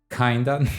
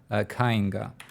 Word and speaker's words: Kainga: Kinda, no, not Kinga, not kinda, Kainga.